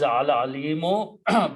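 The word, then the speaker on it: العليم: The actual word is Al-Alimu, but the sifat or adjective follows the noun, in this case Al-Azizi, so Al-Alimu will become Al-Alimi. Okay, when you stop, you pronounce Al-Alim only.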